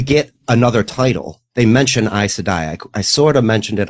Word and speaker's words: Aes Sedai: It's Aes Sedai, Sedai, Eyes, Aes Sedai.